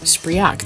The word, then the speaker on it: Spriak: Spriak. I said it wrong the first time. I think I said Spriak the first time when I was doing my intro, but it's not. It's Spriak.